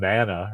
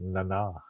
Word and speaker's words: Nana: If you're a real Star Trek fan, you know how to say her name because spelled Nana, right? But she's she pronounces it Nana.